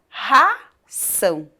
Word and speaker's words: ração: Quando o R está aqui no comecinho da palavra, ele tem um som mais forte. Então, ele fica ração, certo?